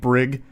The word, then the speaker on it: Brig: I knew a kid growing up named Brig. Hard G, which I actually like better, though more likely to be mispronounced.